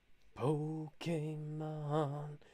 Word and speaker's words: Pokémon: the accent on the e but i still pronounce it correctly pokemon they say it in the opening they say